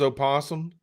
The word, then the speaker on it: opossum: This is opossum. Uh, I call him liver. because I call him liver. he's saying it for It's actually because Oliver, but the O opossum. is silent.